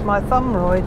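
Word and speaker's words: Mytholmroyd: and sign managers used to say it was my thumb right didn't they and that you said a leaflet how to pronounce it did we yeah my thumb right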